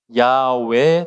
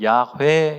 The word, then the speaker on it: 야훼: 히브리어에 보면 엘로힘이란 말이 있고 우리말에는 여호와로 번역이 되어 있는데 원래는 야외 또는 야훼 이렇게 발음할 수 있습니다.